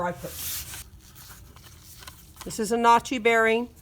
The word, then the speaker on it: Nachi: number of this bearing it's a notchy and that's spelled nachi this is an oem